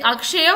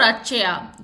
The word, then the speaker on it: Akshaya: So it's like Akshaya or Achaya. So you pronounce it as A-T, Achaya. So but it's actually Akshaya, right?